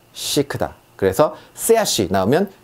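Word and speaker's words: chic: 우리가 시크하다 하고 말할 때 쓰는 시크. 자, 요것도 치크가 아니라 시크다.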